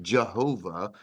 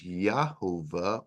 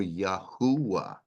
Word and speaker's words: Jehovah: not a a factor here it's yah not J it's not Jehovah it's more likely that it's yahovah or yahua now Yahweh is is